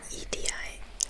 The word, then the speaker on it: Edi: Eddie, like Edi. It's pronounced like the same as Eddie in English, but his name is written the Finnish way.